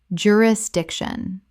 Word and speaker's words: jurisdiction: jurisdiction common mispronunciation jurisdiction correct pronunciation jurisdiction Four syllables with the stress on the third.